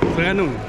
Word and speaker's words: Terengganu: How do you say Terengganu? Terengganu, right? Terengganu? We said it Terengganu. Terengganu. Okay. Terengganu. Can you spell it?